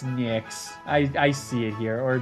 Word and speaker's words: Nyx: It's pronounced nice? No, it's not. No, it's not. Is it? No, it's Nyx.